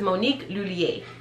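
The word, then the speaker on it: Monique Lhuillier: to learning or yes learning how to properly pronounce this and this is monique lulier monique lulier those double l's monique lulier y'all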